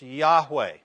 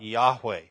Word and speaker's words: Yahweh: consonants and so the the top word are the Tetragrammaton probably would have been pronounced Yahweh it's a verb to